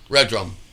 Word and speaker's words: Redrumed: thought you know what red drum perfect two syllables boom you know it